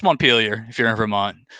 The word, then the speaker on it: Montpelier: from is the capital of vermont but we pronounce it completely different it's montpelier if you're in vermont it's montpellier if you